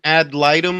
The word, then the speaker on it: ad litem: Ad litem. Yo, that's how you say it.